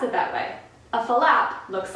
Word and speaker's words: flap: of a funny one because it's actually spelled F L a P so you would think that we would pronounce it flap how many syllables and flap